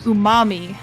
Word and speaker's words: Umami: Umami, because it's like the flavor umami.